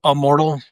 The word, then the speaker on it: Ammortal: Um, let's talk let's talk about um, uh, how do do you pronounce I pronounce it immortal. Is that wrong? Um, you know, it's a it's immortal.